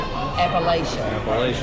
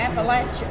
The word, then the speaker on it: Appalachia: Well, even on Jeopardy and TV and stuff, you Appalachia. Something like Appalachia, that. yeah, that's all No, wrong. it's Appalachia. Do you know what poke sack means?